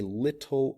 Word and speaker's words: little: talk about having a little vocabulary but notice how I pronounce it that the T becomes more of a D sound little little little we